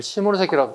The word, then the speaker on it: 시모노세키: 이걸 한자로 적으면 시모노세키를 화간이라 불러요. 화간. 이걸 시모노세키라고 발음을 하게 돼요.